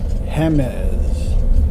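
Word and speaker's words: Jemez: I passed them somehow this area is actually called Hemes the J pronounces as coming up to here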